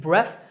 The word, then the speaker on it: breath: breath smells of alcohol notice that the last sound in this word is like in thing take a deep breath and relax breathe is